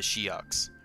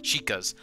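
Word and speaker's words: Sheikah: am impa of the shoks or the Shas sorry sorry sorry I I used to pronounce it shok for some reason sheas I'm responsible for protecting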